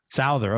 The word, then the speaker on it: Souther: I never knew how to pronounce it. Is it Souther or Souther? Souther.